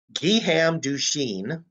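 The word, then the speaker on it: Guillaume Duchenne: difference between the two of them now uh giham dushin as his name is pronounced is out experimenting and you see what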